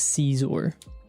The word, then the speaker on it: Scizor: And people in the show, like the characters call it Scizor. Scissor pronounces its own name as Caesar.